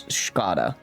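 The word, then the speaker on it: Škoda: The sk and Skoda is that sound. So it's Skoda.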